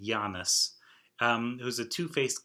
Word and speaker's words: Janus: are named after well i guess you pronounce it giannis um it was a